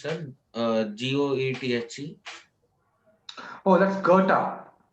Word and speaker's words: Goethe: Oh, that's Goethe. It's pronounced.